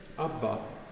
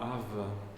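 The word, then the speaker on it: אבא: deviner AB ABA ABA alors en hébreux moderne on dit ABA on dit pas av en tout cas pour dire papa papa à la maison on dit pas av ça ferait très vieux très bizarre c'est ABA ABA par contre si on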